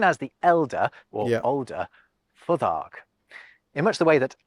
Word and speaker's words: Futhark: I disagree with his pronunciation of the R because he did the English R. I think it was rolled. I think it would be R, Futhark.